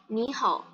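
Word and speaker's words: 你好: Nah, bacanya tuh kayak gini, ni hao. Nah, hao-nya ini, walaupun dia nada 3, tapi nggak perlu dibaca kayak gini. Hao, nggak perlu. Tetap nada 3, tapi dibaca setengah aja.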